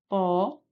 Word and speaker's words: propósito: Então, nós temos aqui, ó, propósito. Nós temos como sílaba tônica a antepenúltima, logo, gabarito letra C, proparoxítona.